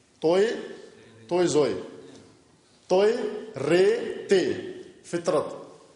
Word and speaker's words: فطرت: توئے رے تے فطرت، لیکن اس تلفظ کے ساتھ فطرت یعنی فے کے نیچے زیر ہو. فطرت، فطرت نہ فطرت، فے کے نیچے زیر ہو، توئے کے اوپر سکون ہو، جزم ہو، اور رے زبر ہو، تے جزم ہو.